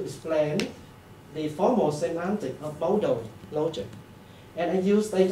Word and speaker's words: modal: The first component is a multiple model logic, including Deontic logic at the central. Multiple Modal. Modal, Multiple not model, okay.